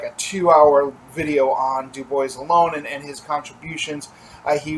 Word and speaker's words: Du Bois: the name of WEP Dubois and yes it's pronounced Dubois map to Gua we know that because he